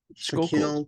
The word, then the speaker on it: Schuylkill: I don't know how to pronounce it. The Schuylkill, Shaquille.